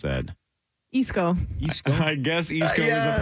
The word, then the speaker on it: Esko: How else would you possibly pronounce that? Isco. Esco. I guess East Coast is a possibility. Yeah, thank you. Mm-hmm. Esco.